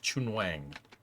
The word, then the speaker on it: Chun Wang: Worth noting his name would be pronounced Chun Wang.